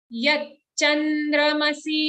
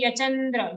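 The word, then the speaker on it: यच्चन्द्रमसि: Don't say yachandra. If you say yachandra, it sounds like there's only a single cha sound. But as you can see here, it's a double cha.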